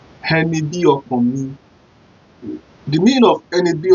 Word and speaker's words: ẹni bí ọkàn mi: Ẹni bí, just like B. Bí ọkàn mi. So how do we spell it? Henny spelled E-N-I. B-I. Hokan. O-K-A-N. Hokan. If you see the way I pronounce it, the O and the K-A-N sound out of the Hokan. Hokan. Hokan. Then the last letter there is me. M-I. Me.